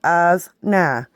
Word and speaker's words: ajna: It's between the eyes, often called the brow or ajna, pronounced as-na, affected by the future, the past, beliefs about spirits.